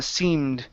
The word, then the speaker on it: seemed: next one here uh seemed okay so uh here there's no need to uh finish that D sound okay so we're going to move it right into the T and then we also